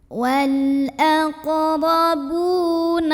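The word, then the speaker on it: وَالْأَقْرَبُونَ: Huruf ra dibunyikan secara tafkhim karena ra-nya ini berbaris di atas, barisnya fathah. Maka dibacanya tebal, pangkal lidah dinaikkan. Wal aqrabu. Bu mad tabi'i karena ada waw sukun yang didahului baris dhammah. Cara membacanya dipanjangkan ba-nya ini 2 harokat.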